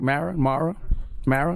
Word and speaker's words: Mara: Now, did I pronounce that right? Mara? Yeah, Mara.